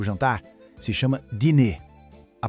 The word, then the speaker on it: dîner: Na França, a refeição da noite, o jantar, se chama dîner. A pronúncia é assim, ó, dîner.